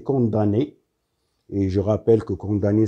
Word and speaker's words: condamné: Et je rappelle que condamné, ça s'écrit avec MN, mais on la prononce condamné à 2 ans de prison ferme.